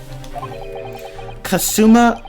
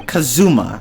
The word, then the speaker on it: Kazuma: allow me to summarize kasuma sorry kazuma i keep pronouncing it with an s sound kazuma ahsoki must not